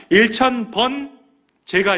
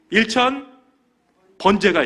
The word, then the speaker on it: 일천 번제: 일천 번제를 드리게 됩니다 여기서 일천 번제는 발음을 똑바로 하셔야 됩니다 1천번 제가 있고 일천 번제가 있습니다 여기서이 번이라는 것은 횟수 번이 아니에요 태울 번입니다 4절 말씀에 우리 산당이